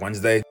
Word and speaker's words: Wednesday: find it funny that D is silent in the word Wednesday well not the day